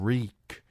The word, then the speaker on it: Reek: "Reek, I'm Reek. It rhymes with squeak."